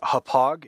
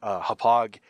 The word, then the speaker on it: Hauppauge: I use what's known as a HAPOG, if I think that's how you pronounce it, HAUPPAUGE, HAPOG HD PVR2.